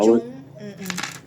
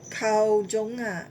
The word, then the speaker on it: Carl Jung: She read Now- Kao Jong. Huh? She read Kao Jong. Who is The What is it? psychologist Yeah. Kao Jong. Carl Jung CARLJUNG.